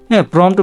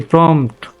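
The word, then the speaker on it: prompt: এই ধরনের কমান্ড বা প্রম্পট, প্রম্পট বানানটা অনেকে ভুল বলে, PRO MT প্রম্পট, এই যে প্রম্পট, ঠিক আছে প্রম্পট, এই বানানটা আমাদের শিখতে হবে বা জানতে হবে উচ্চারণটা।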